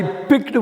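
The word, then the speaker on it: picked: ஐ பிக்டு ஒன் of those mangoes. நிறைய mango இருந்தது, அதில் ஒரு மேங்கோவை நான் எடுத்தேன். ஐ பிக்ட். அந்த பிக்கில் இந்த சி சைலண்ட்டு. பிஐகே எப்படி இருந்தால் உச்சரிக்கிறோமோ அப்படியே உச்சரிக்கணும். எழுதுகிறப்ப மட்டும் பிஐசிகே சொல்லணும்.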